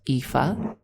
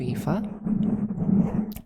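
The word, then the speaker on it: Aoife: that I just personally liked and that was EA spelled A O I F E. It's a very beautiful name. I love EA.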